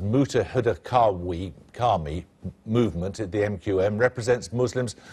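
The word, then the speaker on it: Muttahida Qaumi Movement: North London the MQM is a well it's pronounced mutah Huda Kami movement at the MQM represents Muslims who arrived in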